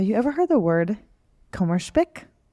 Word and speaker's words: Kummerspeck: Michael, okay, have you ever heard the word Kummerspeck? Kummerspeck. No, never. It's German, if you couldn't tell by my poor pronunciation. This is a German word, and I think I'm saying it right.